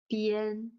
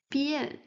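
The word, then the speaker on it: 变: As we said in one of the previous lessons, e, a, n is pronounced yen, yen. So b, yen, bien. With the fourth tone, bien, bien.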